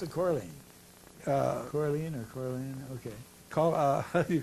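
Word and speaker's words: Colerne: Well, how do you pronounce it? Corleen.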